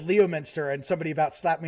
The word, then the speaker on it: Leominster: Leominster. I said Leominster, and somebody about slapped me in the face.